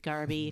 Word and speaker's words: Garbe: Bailey, Garby. Greg. Oh, right, Garby.